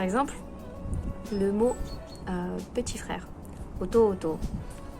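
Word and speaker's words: 弟: Souvent quand tu le liras, ça sera marqué otu otu. Mais quand tu l'entendras dans les animés ou dans la rue au Japon, un jour, tu n'entendras que oto oto. Parce que le U, ça ne fait qu'allonger la syllabe d'avant.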